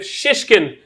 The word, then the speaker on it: Shishkin: Yeah, it's a bit like shh. You have to really emphasise the SH.